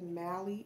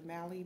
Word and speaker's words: Mally: Okay, we got the Mally. Is it Mally? Because, yeah, Sally is S-A-L-L-Y. So we got Mally, the Mally brand.